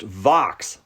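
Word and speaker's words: Vaux: that bird is actually pronounced Vox like Fox oh well we're learning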